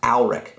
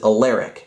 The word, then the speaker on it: Alaric: Siri couldn't correctly pronounce my name is pronounced Alrich and it says alaric so we're gonna try